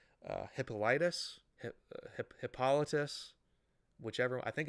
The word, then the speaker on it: Hippolytus: Also, if you look in early church history, I believe Tertullian, and I might be mispronouncing his name, Hippolytus, whichever, I think it's Hippolytus.